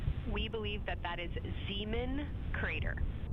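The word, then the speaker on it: Zeeman: Integrity Science, we believe that's Zeman Crater. Oh, I floated away from the speaker. Say it again, please. We believe that that is Zeman Crater. Zeman.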